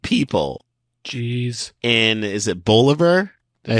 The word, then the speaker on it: Bolivar: But I saw pronunciation written out, and it's like Oliver, but with a B in the front. So I think Bolivar.